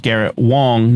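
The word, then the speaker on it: Garrett Wang: Uh, and I also just want to mention a listener pointed out to me that uh Garrett the the actor's name is pronounced Garrett Wong, not Wang, even though it's spelled well then it ought to be then it ought to be spelled Wong.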